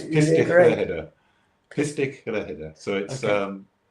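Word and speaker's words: Pistyll Rhaeadr: So yeah, I mean, one of my favourite places is a place called Pistol Rider in Wales, which I've pronounced wrong.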